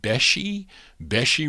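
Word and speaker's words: Besche: But they recorded on Wolfie, on the Sleeper label, and I think it's called, how do you say this? B-E-S-C-H-E, Beshi Records, I think.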